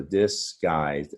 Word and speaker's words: disguised: So if we look at the syllables, we're not pronouncing the U in disguise. So disguised as a two-syllable word.